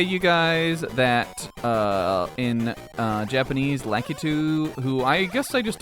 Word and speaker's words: Lakitu: But now that I know that Lakitu is not his Japanese name, we need to stop calling him Lakitu. That's not what he is. He's not. It's Lakitu is what he's called.